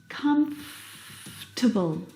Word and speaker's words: comfortable: some vegetables for dinner comfortable now this word just like vegetable has an extra vow in there that we don't need to pronounce comfortable not comfortable or comfortable but comtable comtable we skip that vowel sound comfortable you look very